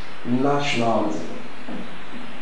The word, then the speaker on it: nationalism: The word is pronounced nationalism. Nationalism. Did you listen to that? Now, if the pronunciation is nationalism, when therefore is our stress? Our stress is therefore on the first syllable, which is option A.